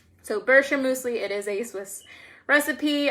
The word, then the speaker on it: Bircher muesli: these two weird words well it's a Swiss word it's a it's pronounced Bircher muesli so like BRR sure mousse and then we like a key right so Bircher muesli it is a Swiss